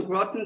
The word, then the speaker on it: Groton: In 2014, he came to Groton, Connecticut, knowing no one at all.